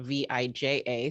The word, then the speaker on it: Vija: So a lot of you have seen it in writing and it's spelled V-I-J-A. So let's start there. It's pronounced Vija. You don't pronounce the J. J is like a Y.